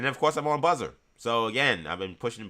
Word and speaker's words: BZZR: Search Buzzer. BZZ R. So not how you pronounce not how you pronounce it, but this is a different spelling.